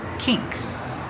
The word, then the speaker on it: kink: And the pronunciation, when you see I-N-K, make the long E sound like green beans. Ink. Together, kink.